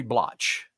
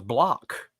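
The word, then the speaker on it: Bloch: Henry blotch B was tired of people mispronouncing his name because they kept saying Henry blotch his name was block so when he created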